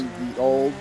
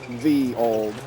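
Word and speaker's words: Ye olde: ye old. Into 2 right of a crest. That's actually not pronounced ye old. 50. It's pronounced the old.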